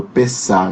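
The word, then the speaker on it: Pessach: A festa judaica do Pessah, né? Que termina com CH, mas a pronúncia é mais ou menos essa.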